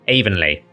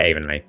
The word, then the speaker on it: Avonleigh: so I call it Avonleigh. So I'm not trying to say that the pronunciation of Avonleigh is wrong. I'm just saying I'm used to a different pronunciation.